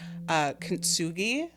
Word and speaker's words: kintsugi: Have you ever done, and someone correct me if I'm saying it wrong, but I think it's pronounced kintsugi.